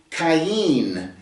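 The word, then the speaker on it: קין: and gave birth to Cen is the way it's pronounced in the Hebrew uh it's a c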